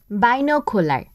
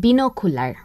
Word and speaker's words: binocular: ও আরেকটি মনে পড়ছে, বাইনোকুলার। বাইনোকুলার নামে এত বছর যা জানতাম সেদিন জানলাম ওটা আসলে বিনোকুলার।